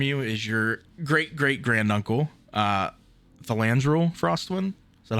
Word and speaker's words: Thalandril: Thandril and Thalandril. Actually, you're pronouncing it wrong. The L is silent in the middle there. Yeah. He's Spanish. Get it right, idiot. Te llamo Thandril.